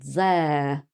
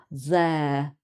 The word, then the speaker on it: they're: Well, it sounds the same as two other words, actually. Over there, which is spelt T-H-E-R-E, and their car, the possessive, T-H-E-I-R, their car. This doesn't sound any different, but you know what